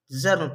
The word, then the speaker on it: germ: इसे में गर्म नहीं पढ़ना है, क्या पढ़ना है? जर्म पढ़ना है, जर्म।